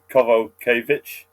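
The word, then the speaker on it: Kowalkiewicz: That's like and they pronounce the W's as V's, so Kovalkiewicz.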